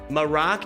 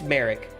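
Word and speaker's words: Marrok: Maroc does not sound, I don't think it sounds right either. I don't think it sounds right either. It's Merrick. It's Merrick.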